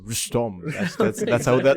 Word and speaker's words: Rustom: Yeah, Like your name in Turkish should be Nabil Rostum. That's how they say it.